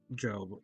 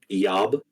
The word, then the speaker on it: Job: So you guys should put Job. Damn it, Job. Damn it, Job. It's pronounced Yob. Yob. Hob. It's like Espanol.